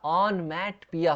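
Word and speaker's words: onomatopoeia: Next देखिए ऑन मैट पिया। ऑन मैट पिया या ऑन मैट पोया। तो यहां पे आप इसका प्रोनाउंसिएशन पढ़ेंगे।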